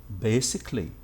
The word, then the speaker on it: basically: here basically actually not we we just say basically basically and an easier way for that is to drop these two letters when you pronounce the word when you write it write their letters when you pronounce it drop them okay now another example